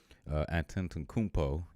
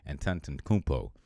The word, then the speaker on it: Antetokounmpo: Antetokounmpo. Y'all didn't think I would be able to say that like that, did you? But I know my sports. I can pronounce my names. Antetokounmpo. That's how you do it.